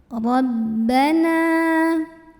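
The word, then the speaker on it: ربنا: Ra dibunyikan secara tafkhim karena ra-nya berbaris dan kita lihat barisnya di atas.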